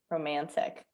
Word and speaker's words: romantic: american kayla roman romantic romantic okay how do you say it very quickly uh romantic yeah yeah so here you don't uh omit that the t in the british accent okay and also for